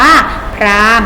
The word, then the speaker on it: พราหมณ์: หอ หีบ อ่าน ว่า พราหมณ์ รอ รอ รอ อา มอ Prime นะ คะ เขียน พรา ห่ม แต่ เวลา อ่าน ว่า พราหมณ์ ศาสนา พราหมณ์ พ่อ พราหมณ์